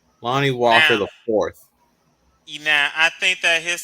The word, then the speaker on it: Lonnie Walker IV: That IV stands for the fourth. You got to say it right, Hagen. Lonnie Walker the fourth.